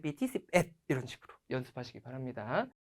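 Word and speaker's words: สิบเอ็ด: C하고 뱃으로 BT 10앳, 10앳, 10앳 하고 발음이 될 수도 있어요. 우리 한국인의 발음 특성상. 근데 음절 언어기도 하고 태국어는 10 하면 10이고 앳 하고 정확히 끊어서 발음해 주셔야 되기 때문에 말씀하실 때도 의도적으로 삐니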